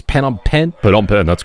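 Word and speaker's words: Phnom Penh: this city the name of which I can't pronounce pen pen p on pen that's correct doing great I've been practicing it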